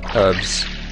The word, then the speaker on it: herbs: Herbs. It's got an H. That's how you say it.